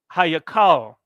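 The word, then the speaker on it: היכל: So in the temple, this is pronounced Hayakal.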